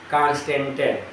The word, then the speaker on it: Constantan: मैग्नीन, गेनिन, कांस्टेंटन, यह 3 याद रखना, ठीक है। बिकॉज ब्रैकेट क्लोज कर, मैग्नीन, सर एक बार फिर से बोल दीजिए। MAGANIN, स्पेलिंग चेक कर लेना, हो सकता है। कांस्टेंटन, CONSTANTAN, CONSTANTAN, कांस्टेंटन।